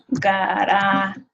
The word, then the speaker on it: garaje: So the J in Spanish makes a sound like an H. So H's are silent. H's don't say anything. The J says the H sound. So garaje is pronounced hey at the end.